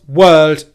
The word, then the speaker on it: world: The first mistake that you might be making with this word is the W sound. It's very common for non-native English speakers to struggle with the English W sound and make it as a V sound instead.